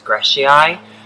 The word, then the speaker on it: grijsii: So this one is Camellia, and I think the way that you pronounce it is Grijsii, but I will put the name on the screen.